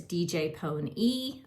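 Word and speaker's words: DJ Pon-3: This is DJ Pony. I know it says DJ, but they pronounce it DJ Pony.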